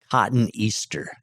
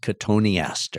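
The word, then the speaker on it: Cotoneaster: about that, it looks like it could be pronounced cotton Easter. Okay. Cotton Easter is kind of the way it's spelled except with one T, but it's pronounced Katoni aaster.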